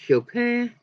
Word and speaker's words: Chopin: It's actually pronounced Chopin, but you know.